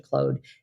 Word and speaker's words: Claude: I recently switched to Claude. And I did ask it whether it goes by the French pronunciation or the English pronunciation. It tells me it's the French pronunciation, Claude. versus Claude.